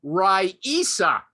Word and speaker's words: Rasa: I always thought it was Rasa Gorbachev, but this woman says, my name is Rasa, Raisa, but it's pronounced Raisa, and it's mispronounced every